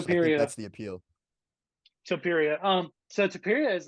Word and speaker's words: Topuria: Hope I can pronounce this name right. Leah Tapuria, 14-0. Yeah, So I think Topuria. that's the appeal. Topuria.